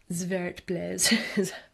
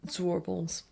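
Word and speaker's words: Zwartbles: Zwartblez. It's meant to be pronounced zwartblez, but other people, you'll hear it referred to as zwarbles.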